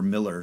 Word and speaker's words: Mueller: But buying a home, and luckily enough, we bought outside of the new Mueller development, or Miller, because we're in Texas.